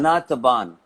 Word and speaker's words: أنا تعبان: Anataban. Okay. أنا تعبان. Ana. You say أنا تعبان. Oh, أنا تعبان. We always do this. Just tell me the pronunciation 1 second. Yeah. أنا تعبان. Anataban. Yes. Anataban.